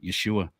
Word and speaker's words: Yeshua: Yeshua or excuse me the Hebrew pronunciation of Jesus is Yeshua um awesome there you